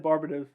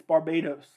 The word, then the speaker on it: Barbados: the other day that i mispronounced uh barbados i said barbados i like sounded it out it's barbados i know now i